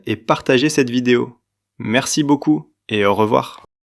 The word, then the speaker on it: beaucoup: Ici, la lettre P à la fin de ce mot ne se prononce pas. Elle est muette.